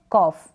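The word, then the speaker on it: cough: तो यहाँ पर ये जो जी एच आ गया है, इसका उच्चारण, इसका प्रोनाउंसिएशन भी फ होगा। क्या होगा, फ। और ये जो ओ यू है इसको अ प्रोनाउंस करेंगे आप, अ पढ़ेंगे।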